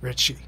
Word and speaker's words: Ritchie: Yeah, you don't really pronounce the T. Richie.